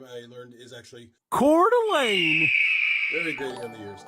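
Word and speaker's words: Coeur d'Alene: of I'm just kidding uh the way you pronounce that city name I learned is actually cordain very greting on the ears okay so quick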